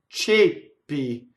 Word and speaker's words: ceppi: And then che i nostri ceppi, ceppi. So that's the word for chains, and it's a closed E before a double P.